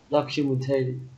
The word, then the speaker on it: documentary: Sometimes my father watches documentary. Documentaries. Mình không đọc là tari mà mình chỉ đọc ngay là tree.